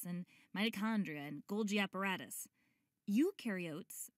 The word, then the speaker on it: eukaryote: Eukaryotes, the U rhymes with do, they do have membrane-bound organelles.